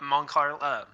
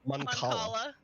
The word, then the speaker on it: Mancala: Then I'll just bring up Moncarla, and I can't even pronounce it. Mancala. Moncala. Like calamari.